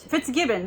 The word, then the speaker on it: Fitzgibbon: So Dogs of Avalon introduces us to the strong-willed Marion Fitzgibbon. So sorry, probably did not pronounce that correctly. Born in rural Ireland, where animals are valued for their utilities. But Fitzgibbon, there we go.